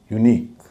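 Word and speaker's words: unique: जब भी आप ऐसा शब्द देखें तो उस आई का उच्चारण हमेशा बड़ी ई होगा। यूनिक, टेक्निक, सो टेक्निक नहीं कहेंगे, यूनिक नहीं कहेंगे, यूनिक।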